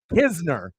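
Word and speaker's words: Knizner: K in uh you know you do you pronounce the k or is the K silent hizner okay that's why I asked because I I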